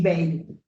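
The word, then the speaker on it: Bayle: 1822 de Pinel y Bale. Pero Bale se escribe baile, con Y, ¿no?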